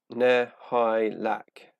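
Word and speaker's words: Nihilakh: Nihilak. That's how it's pronounced according to the Infinite and Divine audiobook.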